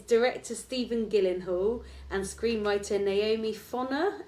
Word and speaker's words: Gyllenhaal: parents then are they or his parents famous Gillen Hall Gillen Hall and how do we pronounce Gillan hall because because the way it's WR daddy Gall